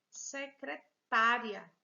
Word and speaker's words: secretária: e veja aqui o acento aqui no parque secretária secretary alguém que trabalha na terminada a função